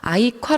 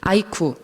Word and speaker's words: 아이콰: 전에 설명을 드리고자 해요 아이칸은 많은 사람들이 이 실은 발음을 할 때 되게 어려워 하세요 중국 언더웨어 아이가 사랑해 짜고 악화가 자랑할 괴짜 여서 아이 콰 라고 불려지는 데 많은 사람들이 아이쿠 뭐 iq 어 뭐 이렇게 부르실 더라구요 네 그래서 뭐 저희